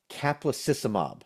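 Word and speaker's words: caplacizumab: we're going to do is we're gonna apply capacissimob." And I'm like, "God, there you go again. You're saying other stuff. I don't know what you're saying." It's pronounced caplacy.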